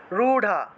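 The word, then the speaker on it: রূঢ়া: সমারু রুঢা ঐন্দ্রিগজ সমারু আচ্ছা এখানে এখানে রু ঢা হবে উচ্চারণ ঢ এর মত ঠিক আছে এই যে ঢা ঢ সরি এই র আছে না র এই র টাকে সংস্কৃত ভাষায় ঢ এর মত উচ্চারণ করা হয় সংস্কৃতে এই যে র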